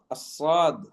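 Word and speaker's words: ص: However, the letter sad, as-sad, as, us, is, the tongue rises. Okay, the tongue rises towards the top of the mouth.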